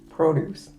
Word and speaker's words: produce: It's the same word as to produce, but you pronounce them differently, right? Produce and produce. Right. When it's about vegetables and fruit, don't we put the accent on the O, produce?